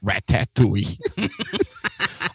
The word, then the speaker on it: Ratatouille: title of Ratatouille is we all say Ratatouille, and I believe that's how they say it in the movie. People from the Northeast invariably call it Ratatouille.